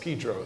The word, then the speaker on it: San Pedro: but where we lived where we lived was San Pedro and it's pronounced Pedro there uh and San Pedro is a is